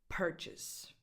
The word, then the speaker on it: purchase: Because these 2 words share the same 3 letters in the spelling, but purchase has the stress on the first syllable. So pursuit, purchase, purchase. So the second syllable just is very, very undefined. Purchase, like perfect, person, purchase.